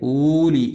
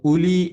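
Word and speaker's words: أولي: എന്ന് ഓതാൻ പാടില്ല അതുപോലെ ഇവിടെ ഊലി എന്ന് എഴുതും ഉലി എന്ന് വായിക്കും സത്യത്തിൽ എഴുതും എന്ന് പറഞ്ഞാൽ വാവ് ഉണ്ടെങ്കിലും ഉച്ചാരണത്തിൽ വരില്ല എന്നർത്ഥം നേരെ മറിച്ച് വ്ഹദു ഊലാഹുമ നോക്കൂ അവിടെ ഉലാഹുമല്ല ഊലാഹുമ വേണം ഇവിടെ ഊലിയല്ല ഉലിബിൻ ശദീദ് അസ്സലാമു അലൈക്കും വറഹ്മത്തുല്ലാഹി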